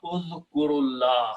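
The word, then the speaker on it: اذْكُرُ اللَّهَ: Udhkur, ra has a sukoon, but when we combine and read together, we put a dhamma, udhkurullah.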